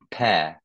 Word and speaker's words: pear: Ah, le R, c'est pareil, tu le prononces presque pas. Pear.